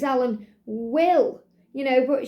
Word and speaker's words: Wille: you could say it's Alan will you know what she pronounced it Villa so this is by